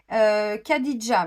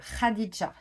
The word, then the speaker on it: Khadija: le souhaite alors moi je vais le dire version française mais je sais que ça ne se prononce pas comme ça Khadija bon je pense qu'on prononce ce radisja la Mère des Croyants